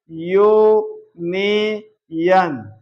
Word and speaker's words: यूनियन: कि वावेल है लेकिन इसका प्रोनंसिएशन जो है आप देखेंगे यू नियन य यूनियन है ना याय आ रहा है या क्या है कंसोनेंट है इसलिए इसके पहले भी